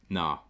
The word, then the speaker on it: naa: So in the northeast, you'll want to spell it like that. Nah.